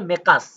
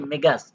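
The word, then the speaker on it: مقاس: শব্দটা হবে মেকাস। কিন্তু ওযে ওদিন বলেছিলাম আঞ্চলিক ভাষায় ওরা কফকে গ এর মত উচ্চারণ করে। সেজন্য বলছে কি? মেগাস।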